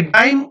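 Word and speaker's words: Dim: শুরুতেই দেখো ডিম লেখা আছে, অনেকে ডিম উচ্চারণ করে, অনেকে ডাইম উচ্চারণ করে, সম্পূর্ণ নাম হলো ডাইমেনশন।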